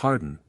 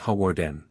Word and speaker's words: Hawarden: change my suit that I should pronounce it glad stun not Gladstone and that it was Harden not Hawarden then he stood me up